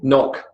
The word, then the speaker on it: knock: The K as in knock, no, knickers, and knee.